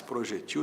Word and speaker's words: projetil: vai usar muito mais projetil do que projétil. As duas formas existem. Projétil paroxítona, que termina em L, com acento no E da sílaba G. Projetil sem acento, oxítona.